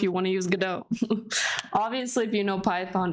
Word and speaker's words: Godot: yeah the the creator of Godot pronouncing a DOT because he is Argentinian so in Spanish you like pronounce the letters but the name is based off of the Samuel Beckett's waiting pergado which is French and they pronounce it Godot um so yeah when